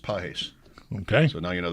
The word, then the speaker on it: Pages: There are two players with the name P A G- S. They're pronounced Pes.